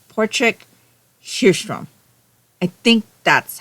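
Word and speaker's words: Patrik Hedström: This is the second book in the Portric Hstrom mystery series. I think that's the correct pronunciation though. It's written like if you read how it's written for someone who's not Swedish.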